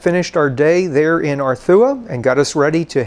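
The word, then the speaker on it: Arzúa: We had arrived in Arthua. The Z in the name is pronounced Th.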